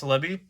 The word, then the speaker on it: Celebi: you have the celebi mew version yes that's how you pronounce celebi you have that in english but this one